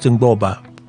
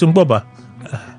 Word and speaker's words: Mgbuoba: Uche Wachiku from you told me how to pronounce this thing one time. I call it Ngboba, but you say it's not Ngboba. What you told me one time? MGBUOBA. It's Ngboba.